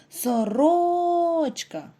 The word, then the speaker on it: сорочка: який він за порядком у третьому слові наголос падає на другий склад прослухайте сорочка перенесіть будь ласка Ці